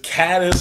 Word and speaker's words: Cadiz: probably none of you have heard of called Cadiz is it Cadiz he already pronounced the name of my town it is cat is alive its cat is all right here's our